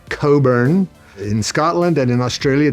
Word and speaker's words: Cockburn: It's a Scottish name, and the CK is not pronounced, so it's Cockburn.